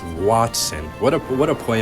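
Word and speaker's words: Wattson: just realized now that I said his name wrong it's Watson what a what a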